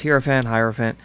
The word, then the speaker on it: Hierophant: The Hierophant, and I hope I pronounce that. You know, I don't do this full time, so it's Hierophant.